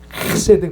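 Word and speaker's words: חֶסֶד: 사랑하셨다는 그게 바로 헤세드 세드라 하면 발음이 좀 약해요 헤세드 그래야 됩니다 좀 가래 끓는 소리가 좀 들어가야 돼요 하나님의 조건 없는 사랑을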